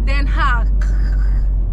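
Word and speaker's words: Den Haag: there but in that they pronounce it as then ha they are really surprised on how I get it right now yeah I did it perfect guys then hug you know you have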